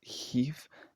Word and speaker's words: hiv: So for example, some examples of this are aunt, arth, near, also Now, the correct pronunciation of these words is Heath and Bev, which I didn't get quite right in the video.